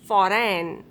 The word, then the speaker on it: foreign: If a word ends in GN, then letter G will be silent. Align, assign, design, sign, design, consign, campaign, ran, foreign.